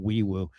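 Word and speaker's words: Febechi Nwaiwu: It's spelled Nwewu, but I think it's pronounced Weewu.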